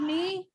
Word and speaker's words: knee: What about knee? What is silent? K silent. K is silent.